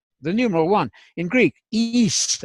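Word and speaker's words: εἷς: In Greek, heis, I'm using the modern Greek pronunciation as we taught in the Bible college.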